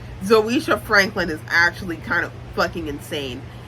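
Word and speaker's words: Zoeysha: was black even though Zoe's name is zisha and it's spelled z o e y s h a zisha Franklin that is the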